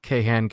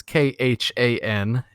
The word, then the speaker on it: KHAN: find my website at ke Han Gamescom which is kha n con games if you want to pronounce it like that or but you'd be wrong I'm on Nintendo a